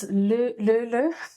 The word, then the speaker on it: Löyly: It's a Finnish word, and I've been trying to pronounce it. So it's Löyly.